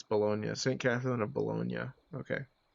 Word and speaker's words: Bologna: Okay, it's Bologna. St. Catherine of Bologna. Okay. It is funny to pronounce it Bologna because, oh, I work in a deli as well, so that's kind of cool.